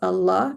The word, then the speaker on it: Allah: they can all pronounce Allah because every baby can make the sound ah and la. So if you can say these two sounds, anybody can say the word Allah.